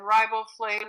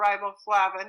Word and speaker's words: riboflavin: b12 thiamine niacin and riboflavin or riboflavin it's pronounced both ways are needed for a